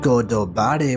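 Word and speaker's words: ゴッドバレー: and a Celestial dragons in Japanese God Valley is pronounced godobare which means the land of the gods were exposed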